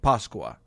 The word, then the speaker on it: Pasqua: So in Spanish, Italian, and Portuguese, for example, it's spelled differently, but all pronounced something like Pasqua.